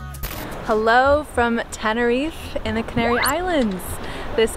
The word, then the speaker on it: Tenerife: Tenerife I think it's Tenerife if you have a Spanish sauce have anything but I think if you're like a white Ringo Hallelujah Tenerife how come all the Brits say teneries it's my first sangria